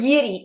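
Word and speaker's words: Jiří: Jiri, how do you say his name? Yiri.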